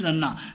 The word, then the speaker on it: Ranna: It is the correct pronunciation is Ranna.